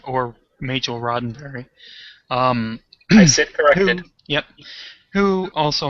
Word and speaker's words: Majel: by none other than missouri roddenberry um i think i just mispronounced her name yeah completely uh majel barrett or mitchell roddenberry um yep who